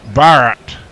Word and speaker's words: Bharat: Colin would get it wrong it's yadav and Bharat not your bloody English there you go uh